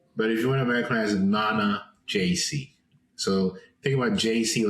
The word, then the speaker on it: Nana Gyesie: looks so way easier so the the African pronunciation is Nana JC Nana n JC JC but if you in amiz Nana JC so think about JC like JayZ JC that's